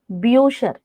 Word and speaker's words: Bücher: So here, with umlaut, it is U, pronounced as U. For example, books are called Bücher.